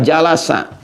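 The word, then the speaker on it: جلس: Majelis ini asalnya dari kata jalasa. Jalasa. Jalasa. Bacanya pakai bahasa Arab ya, jangan pakai bahasa Inggris. Jealous gitu. Jalasa ya.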